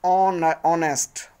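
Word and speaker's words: honest: का मतलब एन ऑनेस्ट एन क्यों लगता है क्योंकि जो एच है व साइलेंट है और ऑनेस्ट ऑनेस्ट तो यह जो साउंड है वह हमारा वोल साउंड है कॉन्सोनेंट लग रहा है एच है लेकिन वोल साउंड दे रहा है 17 आई लिव इन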